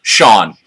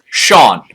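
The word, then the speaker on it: Shaun: ask for me, the proprietor of Club Mnemonic, Sean. And he lifts up his name tag, which you clearly see his name is spelled S-H-A-U-N. That's right, Sean.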